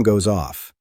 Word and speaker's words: goes off: My alarm goes off. Repeat that. Goes off. Connect the S and the O.